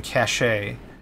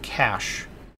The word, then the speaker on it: cache: care which is interesting I've always heard it cash c-a-c-h-e cash can use as a